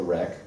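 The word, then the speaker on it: wreq: we're going to use a library called rec which is spelled with a w like this and it's an obvious play on the word request rec like most http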